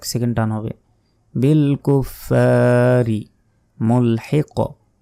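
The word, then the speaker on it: مُلْحِق: টান হবে বিল কুফারি মুলহিক মুলহিক মুলহিক বলা যাবে না মুলহিক শেষে ধাক্কা দিতে হবে কফ এখানে যদি থামি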